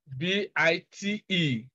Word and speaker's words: bite: So it won't be a long vowel sound, but because we have B-I-T-E and E is silent here, this is a long sound.